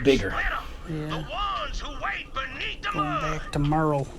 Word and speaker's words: Merle: Going back to Merle. Spelled like Hurl. Merle. Hurl.